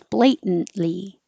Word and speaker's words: blatant: and just go blatantly blatantly and even the oops where was I Layton blatant the adjective blatant blatant the end becomes its own syllable and this looks very